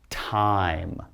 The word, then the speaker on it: time: we go ahead and if we put silent e there that means now time okay what time is it all right not Timmy again silent e don't say it but now you have the long I sound time alright if you remember